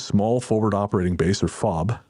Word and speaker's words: FOB: forward operating base or fob pronounced as in ke fob consisted of our medical